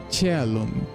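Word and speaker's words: caelum: They pronounce it's not Calum, it's Chalum. That would make sense because C in Italian it's pronounced sometimes like ch.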